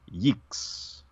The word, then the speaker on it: yeeks: And then the Unimouthian would be yeeks. So you got kind of the hooks with the O and yeeks with the E sound.